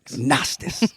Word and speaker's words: Gnostics: And in that silent G on the front, Gnostics.